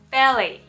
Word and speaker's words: ballet: Правильное произношение ballet. Ballet. T на конце слова не читается, потому что это слово пришло из французского языка.